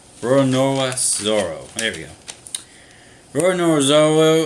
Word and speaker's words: Roronoa Zoro: I may be saying that name wrong. Roronoa Zoro.